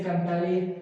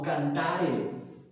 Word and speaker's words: cantare: Y es muy importante notar que dice, no dice cantaré, sino cantare.